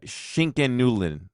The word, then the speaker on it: Schinken-Nudeln: Um no idea how to pronounce this one, but it is a pasta Oh, that's that's that's uh Schinken-Nudeln.